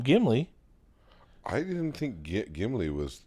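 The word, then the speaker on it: Gimli: It's not Gimy. It's not Gimly. They call him Gimy.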